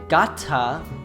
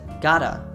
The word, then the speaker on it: gotta: In American English, when a T sound is surrounded by two vowel sounds, the T sound becomes a soft D. So instead of saying gotta, Julia says gotta.